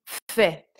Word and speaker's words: fait: Ensuite, il, elle, on fait. Donc là, il y a un T, mais le T est muet.